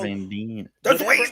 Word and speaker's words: Van Dien: gotta reach out to Casper Van Dyne. Dean. God, I always say that wrong. I always say that wrong. Van Dien.